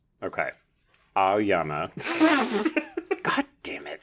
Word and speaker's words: Aoyama: It's like you're pronouncing the A-O. Aoyama. Okay. Aoyama.